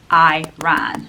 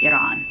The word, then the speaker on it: Iran: Iran, but it's actually pronounced as Iran.